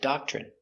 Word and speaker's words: doctrine: D a da c- dock chock ch remember when you have tr together it makes the chicken sound ch.